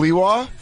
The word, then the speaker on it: Sliwa: Sliwa? Hell yeah. Did I say his name right? Our last line of defense. Yeah, Curtis Sliwa.